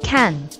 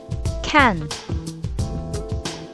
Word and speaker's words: 看: In the Chinese language, watch and read share the same word, and it is pronounced kan.